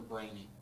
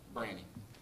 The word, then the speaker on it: Branny: Is it Branny or Brainy? Oh, I see. It rhymes with Granny. So. Okay. Branny.